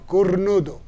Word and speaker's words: cornudo: Cornudo. Put your tongue like you're cornudo.